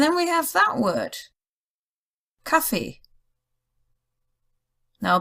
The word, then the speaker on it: Kaffee: And then we have that word, Kaffee. Now, based on the German rule, the emphasis would be on the first word, Kaffee, but a lot of people say Kaffee.